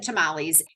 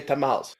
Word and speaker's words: tamales: pronounce it it is it's becoming more and more common to just say tamals okay and here's your